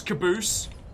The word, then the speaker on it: Caboose: Alright, so we've got Goose Caboose, who rhymes with moose.